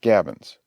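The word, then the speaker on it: gabions: forms a complete breastwork the word is pronounced Gavins the Fashions pronounced Fashions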